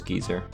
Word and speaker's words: geyser: Tom, how do you feel about the fact that British people pronounce geyser as geezer?